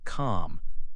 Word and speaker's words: comb: A good example is the word comb. You write C-O-M-B, but you say calm. The B is quiet.